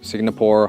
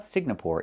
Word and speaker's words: Singapore: It's not Signapore. It's Singapore. The NG makes a sound M in your nose. Sing like when you sing a song together. Singapore. Not Singapore, but Singapore.